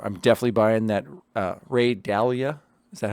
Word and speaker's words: Dalio: i'm going to i'm definitely buying that ray dalia is that how you say his name dahlia ray dalio yeah dalio i'm going to buy that book